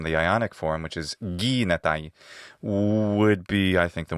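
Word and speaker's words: γίγνεται: I would have expected him to say gignatai, not gignatai, with extra gamma, since the koine form, which is derived from the Ionic form, which is gignatai, would be, I think,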